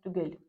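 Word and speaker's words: түгел: На записи оно выглядит вот так вот и читается как тюгель. Я бы, конечно, поставила сюда мягкий знак, но оригинально его там нету.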